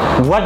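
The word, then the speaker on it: what: বলতো কিউ পরে আসতেছে হোয়াট দিয়ে প্রশ্ন করবা কি হোয়াট যেটা আমি বললাম হোয়াট হবে না কিন্তু হোয়াট হ উচ্চারণ হয় না এটা অ উচ্চারণ হয় হোয়াট আমরা বলি কি জানো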